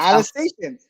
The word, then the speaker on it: Alsatian: It's Alsatian.